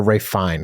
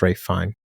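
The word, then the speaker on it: Ralph Fiennes: don't like that or ra fine excuse me you don't say the S either it's ra fine yeah I'm surprised KY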